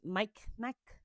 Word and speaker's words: Mi'kmaq: It's spelled MI'Kmaq. So I think it's MICMAQ.